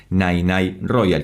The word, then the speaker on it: Nene Royal: Nirvana por parte de Ozone Band, liderada por Nay Nay Royal, que creo que esta vez sí lo estoy pronunciando bien porque me dejaron aclarado, y gracias